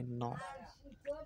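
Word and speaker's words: knee: শব্দের শুরুতে কে এন থাকলে তার উচ্চারণ হবে ন, তার দন্ত্য ন হবে। এক্ষেত্রে কে এর অর্থাৎ উচ্চারণ হবে না, মানে অনুচ্চারিত থাকবে।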